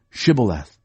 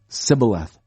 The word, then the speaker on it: Shibboleth: And they would say, "Say Shibboleth." But he would always say Sibboleth. He couldn't say it right.